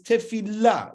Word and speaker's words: Tefilah: we pronounce it is tefila with a strong emphasis on the lamid to kind of show that they're supposed to be two there but there's not two